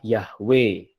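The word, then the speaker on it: Yahweh: Youth Hei five Hei itu yang kalau orang Yahudi sampai saat ini membaca tua domain bacanya kalau orang Samaria atau membaca yahwe gitu ya ya Bro sudah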